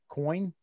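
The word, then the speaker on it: Coyne: Coin? C-O-Y-N-E? Yeah, coin. Coin. I had a teacher in high school whose last name was Coin. Okay. And it was spelled that way. So I'm going with Coin.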